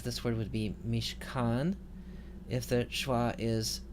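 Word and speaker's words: מִשְׁכָּן: So we would prefer for this word to be mishkan.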